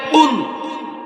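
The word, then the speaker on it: قُلْ: এখন সে প্রথমে পড়তেছে কুল হুয়াল্লাহু আহাদ। আমি বললাম, চাচা এমন ভাবে পড়েন যেন রবের আরশে গিয়া ধাক্কা লাগে। আপনি পড়েন কুল, কাফ দিয়ে পড়লে হবে না, কুল শব্দ করে পড়েন।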